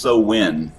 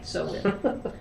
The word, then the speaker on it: Samhain: It's actually pronounced so win.